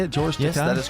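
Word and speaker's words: George Takei: George Tai, that is correct.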